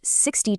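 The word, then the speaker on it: sixty: In American English, 60 takes the stress on the very first syllable, while 16 takes it on the second.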